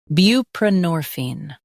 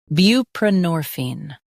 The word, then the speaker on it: buprenorphine: Both US and UK have the same pronunciation of this word, buprenorphine. Now read the syllables shown on the screen naturally. Bu, p, norphine, buprenorphine. Stress nor and keep bu light.